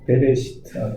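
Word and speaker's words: בְּרֵאשִׁית: 아, 베레시트. 베레시, 이거 묵음이에요, 이거. 네. 알렙은 요 알파벳 중간에 들어가면 묵음돼요.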